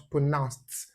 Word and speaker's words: pronounced: When you add d to it, becomes pronounced. And then note this diacritic sound tells you that the word is stressed on the second syllable.